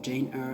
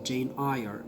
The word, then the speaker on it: Jane Eyre: And it is, by the way, Jane Eyre and not Jane Eyre, as I mispronounced the title last time.